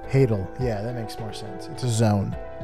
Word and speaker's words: hadal: Hadal. It's like title. Hadal.